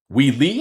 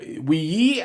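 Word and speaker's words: Wei Yi: Like I would say Prague comes to mind, and also Wee Lee. I think that's how you pronounce the name. Wee Lee or Wee Yi, Wee Yi, I suppose. Wee Yi, it's a name.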